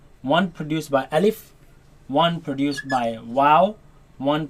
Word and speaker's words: ألف: Now this letter you are to pronounce it fast. Do not say Alif and do not say Alif. Say Alif.